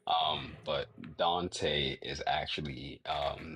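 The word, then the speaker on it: Donte: Dante. um is that's that's actually how it is um pronounced even though that's not well that's that's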